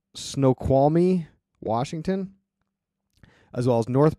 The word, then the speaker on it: Snoqualmie: Geeks out there are gonna light me up for saying it wrong but I'm gonna say it anyway snow quality Snoqualmie Washington as well as